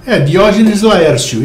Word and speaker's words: Diógenes Laércio: E sim, ela disse que é Diógenes Laertius, ou Diógenes Laertius em português, ou se você, como que se pronuncia o nome dele em português? Diógenes Laércio, isso mesmo.